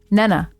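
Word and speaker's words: Neneh: And I was like, "That that says Nina. Are you kidding me?" And it doesn't. Um, it's uh Nenna Nenna.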